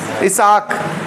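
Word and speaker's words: Isaac: अब अंग्रेजी में आइजैक कह देते हैं, हम तो उसको पढ़ेंगे तो हम क्या पढ़ेंगे? इसाक। आइजैक। कोई इसाक नहीं पढ़ा जा सकता क्या? स्पेलिंग तो वही है।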